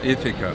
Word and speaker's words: Ithaca: How do we pronounce it? Ithaca. Ithaca.